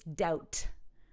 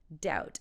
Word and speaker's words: doubt: is doped don't say don't pronounce the B it's doubt doubt I doubt it in